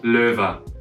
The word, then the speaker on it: LOEWE: And so now people pronounce it as LOEWE in a Spanish way, but actually in German it's called LOEWE, means lion. So LOEWE is one of the